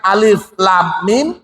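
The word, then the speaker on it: الم: Jadi pada waktu awal pembukuan Al-Qur'an awal-awal ditulis untuk menulis alif lam mim itu sama tulisannya dengan alam. Tapi Rasulullah mengajarkan alif lam mim, sahabat mengucapkan alif lam mim.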